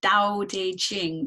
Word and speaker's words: Dao De Jing: rooted in philosophy right based on the the Dao de Jing did I pronounce that correctly yes can you can you